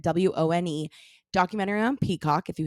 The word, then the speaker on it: Wone: Wone, I think is how you pronounce it. Wone.